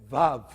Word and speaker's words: Vav: How do you say the word Vav?